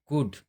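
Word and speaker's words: could: वुड शुड ऐसे अगर word आते हैं अगर डी से पहले एल आता है चाहे कोई भी वर्ड रहे तो उसका हम उच्चारण नहीं करेंगे।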